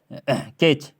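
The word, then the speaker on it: catch: इसके आगे जैसे यहाँ पर आ गया कैच, कैच, इसमें कैटेच नहीं पढ़ रहे हम लोग, है ना, कैटेच नहीं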